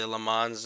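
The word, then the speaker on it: Le Mans: lane wall or the LeMans as the Americans call it one of the I think proper pronunciation is limo okay that's French but uh yeah so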